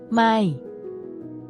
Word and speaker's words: ไม่: Is pronounced with a falling tone, which starts at a high pitch and then drops down.